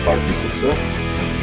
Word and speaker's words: Pataliputra: The student has the debate and the student wins, and then he goes to Pataliputra, which is pronounced as Pataliputra, and then he slinks in as a grass cutter, because outsiders are not allowed to come in for debates.